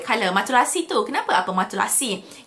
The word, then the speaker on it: matelassé: Matulasi tu, kenapa apa matulasi? Kalau korang tengok perkataan, ejaan dia macam matulasi. Tapi it's matulasi. Matulasi tu maksudnya textured. Dia jenis jahitan textured yang kilted, tu maksud dia in French lah.